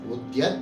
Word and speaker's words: உத்யத்: இப்போ இந்த நாமத்தை எப்படி உச்சரிக்கணும் அப்படின்னு கேட்டானா உத்தயத் பானு சகஸ்ராபா அப்படின்னு நாம சொல்லணும்.